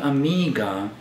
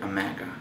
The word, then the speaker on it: Omega: right here in the box when I'm saying Amiga uh some of the people probably saying why you not pronouncing Omega the way it should be and